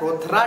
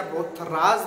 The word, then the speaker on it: Rothera: का नाम रहता है रोथरा टेस्ट, या रोथराज भी बोल सकते हैं ना, रोथरा भी बोल सकते हैं, ये एस लगा के रोथराज भी बोल सकते हैं। ठीक है, ये दोनों चीज प्रोनाउंस की जाती है इस टेस्ट के लिए।